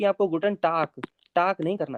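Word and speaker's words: Guten Tag: good day good day ये हो जाता है गुटन टाक गुटन टाक गुटन टाक यह हल्का सा का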